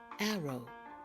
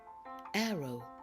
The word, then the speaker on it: arrow: of O for example Arrow glow you don't really hear the W sound in these words I'm going to say them again and please repeat after me Arrow glow great job now